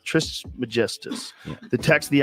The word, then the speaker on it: Trismegistus: These Watchers told an Egyptian sage Hermes Trismegistus to write this book.